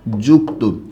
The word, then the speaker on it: যুক্ত: আমি একটা শব্দ লিখলাম যুক্ত, এই যে যুক্ত শব্দটা যে আছে এটাও কিন্তু ঠিক সেম, এখানে কোনো কার নেই, কারহীন যুক্তবর্ণ। তাই আপনাকে মনে রাখতে হবে এটা উচ্চারণ করার সময় কেমন হবে? জয়রসুকার ক ত ওকার যুক্ত।